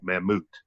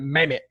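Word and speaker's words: Mammoet: and I moved years I've been calling it Mehmet not it's not mammoth it's Dutch for for the woolly mammoth that moved okay okay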